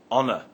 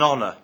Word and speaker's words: honor: Let's look at the word honor. We say an honor, not a honor. The H in honor is silent.